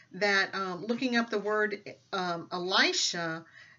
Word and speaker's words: Elisha: And so a friend of mine sent me a link where it's an Israeli woman that was actually pronouncing the word Elisha.